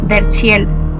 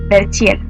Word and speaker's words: Verchiel: su página oficial Len Verchiel, La Voz del Arte. Len se escribe L-E-N. Verchiel se escribe con V-C-H. Verchiel.